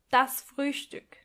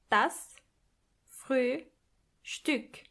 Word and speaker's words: Frühstück: Breakfast is das Frühstück. Das Früh Stück. Which means the early piece. Das Frühstück. And try to pronounce the o umlaut.